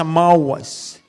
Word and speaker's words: ma'as: Sabi niya, yung rejected dyan in Hebrew word is ma'as. Pagka-pronounce mo sa mawas.